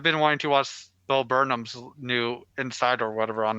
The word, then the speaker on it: Burnham: like yeah I've been wanting to watch Bill Burnham's new insight or whatever on Netflix and stuff and I'm a little behind but I love the music soundtrack for it that he does who burn oh Burnham I said it wrong the first